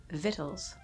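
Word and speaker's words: victuals: what that is vittles why is there a c in there i don't i don't like this hey man i don't like these silent letters that's not cool that's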